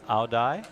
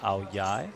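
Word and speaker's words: áo dài: keep getting this wrong it's either aodai which is how it's spelled or AO yai which is perhaps how it's pronounced forgive me but it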